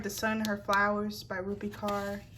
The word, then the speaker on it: Rupi Kaur: I just heard The Sun, Her Flowers by Rupi Kaur. That's how you pronounce it.